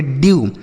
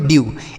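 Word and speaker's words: dew: अगर इ के साथ डब्ल्यू लिखा रहेगा, तो इसका उच्चारण जो होगा, यू के रूप में होगा।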